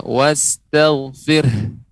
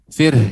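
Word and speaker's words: وَاسْتَغْفِرْهُ: Ya, wastaghfir. Fir. Nanti terus dilatih di rumah. Fir, ini ada nafas, ada hembusan. Fir, ya. Karena ada huruf H di ujungnya.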